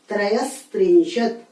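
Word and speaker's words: त्रयस्त्रिंशत्: इसमें आपको दंत्य स का उच्चारण करना है। त्रयस त्रिंशत, चतुष चत्वारिंशत।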